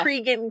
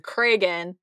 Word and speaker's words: Cregan: I will say, I get a little anxious about pronouncing Cregan. It's a Cregan. I used to think just reading it that it was Cregan, and then once they started saying Cregan, and the Craig thing is helpful. Craig is helpful that way.